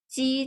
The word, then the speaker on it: 鸡: And the airflow, when we are pronouncing qi, there's a strong airflow. Xi, a little airflow, while ji, no airflow at all.